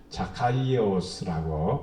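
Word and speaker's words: Ζακχαῖος: 삭개오란 이름은 자카이오스라고 발음을 합니다. 원래는 자카이오스. 근데 우리는 삭개오 이렇게 번역을 했습니다. 예, 원래 언어에는 자카이오스 이렇게 부릅니다.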